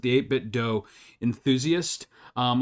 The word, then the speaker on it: 8BitDo: Max and I talking, I am a bit of an 8bit do, and that is how I pronounce it, the 8bit do enthusiast.